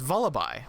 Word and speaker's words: Vullaby: is not a baby so its name is not vullaby because it is not a vulture baby it is vullaby because it is a portmanteau a vulture and a lullaby no one can change